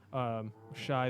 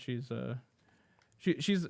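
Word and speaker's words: Shi: Shy the series. Which I always pronounce.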